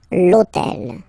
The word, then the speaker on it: l'hôtel: starts with h, but remember that in French we don't pronounce h, okay? So basically the first sound of the word is the vowel o, okay? So for the same reason, e needs to disappear, l'hôtel, okay?